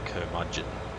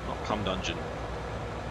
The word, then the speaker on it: curmudgeon: So it's General Curmudgeon, something like that. I think that's how it's pronounced anyway. But certainly not Cum Dungeon, like I thought.